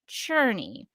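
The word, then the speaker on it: Czerny: man Winslow's shot senior as played by Henry cherny what did you think about him I'm so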